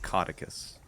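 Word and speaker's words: Caudecus: Well, the good news is this game does pronounce it Cauticus, so you Cauticus, won't be okay.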